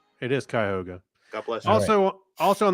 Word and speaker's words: Cuyahoga: Welch was from that area, and he corrected me on the pronunciation. I believe it's Cuyahoga. It is Cuyahoga.